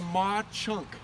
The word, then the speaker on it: Mauch Chunk: This one's called the Maw Chunk, and it's spelled like Mauch Chunk.